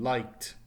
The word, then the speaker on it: liked: So the example base verb is like, with the past tense being liked. So once again, it's a T sound and ends in the no extra syllable.